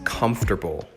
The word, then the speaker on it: comfortable: kernel number two is comfortable comfortable the emphasis is on the comf part that first syllable it means physically or